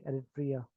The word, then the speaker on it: Eritrea: और पांचवा कंट्री ये आ गया एरिट्रिया, एरिट्रिया, ERITREA, एरिट्रिया, एरिट्रिया।